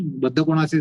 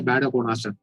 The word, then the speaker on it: Baddha Konasana: Baddha Konasana is not a bad Konasana. But they would pronounce it as bad Konasana.